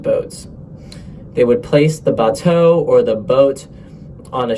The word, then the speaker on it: bateau: a package called a bateau. Yes, it's spelled like that. It's French. Larger farms would just put their products on boats. They would place the bateau or the boat on